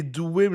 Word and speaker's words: Duwem: Again, we are not in the business of misrepresenting our guests and mispronouncing the names of our guests. Is it Dubem or Duvem? A Duwem now, you can see the Duwem, names.